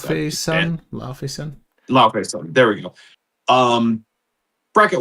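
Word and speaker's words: Laufeyson: Next, Loki, Lofferson, the Fierce Son. I still don't know how to pronounce that. Laofey Son.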